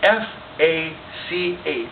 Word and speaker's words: Fach: So the word that you need to take away today is F-A-C-H. It's a German word, which is pronounced Fach.